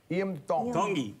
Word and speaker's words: Tongi: from tongi koku Hawaii tongi tongi you pronounce the T like a D in the tongy culture oh so tell us